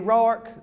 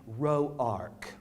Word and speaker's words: Rourke: Them what pronounce the name Roark. Yes, they's the ones that's got money and education. These wasn't Roarks, they's just Rourkes.